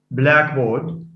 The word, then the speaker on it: blackboard: on the last uh a compound maybe may be written as one word as in blackboard blackboard blackboard so it's not blackboard blackboard that's a compound it receives stress on the first sorry it receives stress on the first element by the way sorry